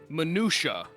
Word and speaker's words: minutiae: of a glass make on the case objection minutiae is how it's pronounced you say come on man could it